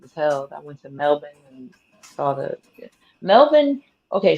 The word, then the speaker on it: Melbourne: i were to go it's spelled melbourne but they pronounced it melvin yeah um if i